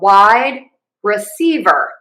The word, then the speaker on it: wide receiver: We're going to have 4 syllables instead of just the 3. So we have wide receiver. Wide is going to get our primary stress, and secondary stress will be on C.